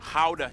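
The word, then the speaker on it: Gouda: and the pride and joy of the nation howder cheese yep that's how you pronounce it guys oh and keep in mind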